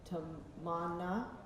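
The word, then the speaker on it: Tamannaah: Tamana.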